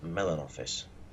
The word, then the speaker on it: Malinovka: it's an encounter battle on malinovka which according to YouTube is pronounced Mellon office well go that's very